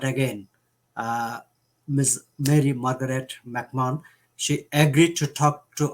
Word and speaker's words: McMahon: last name is complicated there's a silent h so it's big man like i always say it should be mick woman but it's mcmahon mcmahon but you can call